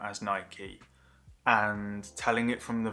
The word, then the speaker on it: Nike: weird saying that because in the UK we say like I've always said Nike and sort of been told I'm pronouncing it wrong I know now that it is Nike I'm not gonna change but I know now obviously because Nike is the Greek goddess a victory one thing that made